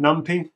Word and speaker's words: NumPy: to install external packages uh one package is numpy which a lot of people call numpy but I call it numpy so you're gonna just have to deal with